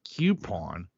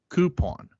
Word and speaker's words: coupon: how to talk, because it's not pronounced coupon, it's pronounced coupon.